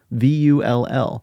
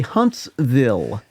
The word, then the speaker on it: Huntsville: Okay, so you're actually from Alabama because you said Huntsville, Vull. Yeah. A liar would say Huntsville.